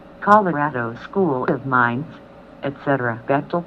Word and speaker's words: Bechtel: Bechtel, pronounced Bechtel, in a supersecret international corporate octopus, founded in 1898.